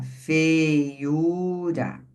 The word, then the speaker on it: feiura: Então, quando a gente fala feiura, ó, qual é a sílaba tônica da feiura? U. É u. U. E aí, veja a separação, ó. Fei ura, não é isso? Porque é igual papagaio, certo?